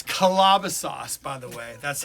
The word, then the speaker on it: Calabasas: no i don't think it's from calabasas it's calabasas by the way that's how you pronounce it that's where hang ups is big